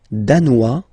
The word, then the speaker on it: danois: Le Danemark, danois, danoise. Okay, insist on that. Danois, don't pronounce the final S. Danoise, here you pronounce it.